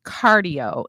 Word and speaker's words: Qardio: And then the last one is Cardio, and it's spelled QARDIO.